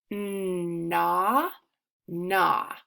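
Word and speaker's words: gnaw: go to this word na na so this word has a GN at the beginning so I'm gonna go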